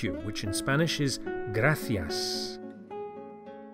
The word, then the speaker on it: gracias: Thank you, which in Spanish is gracias. Gracias. The C of gracias is pronounced as an English TH, as in thanks, the same word.